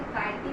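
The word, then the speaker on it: chitin: जो होती है वो चिटिन से बनी होती है। चिटिन या फिर इसे काइटिन भी प्रोनाउंस किया जाता है।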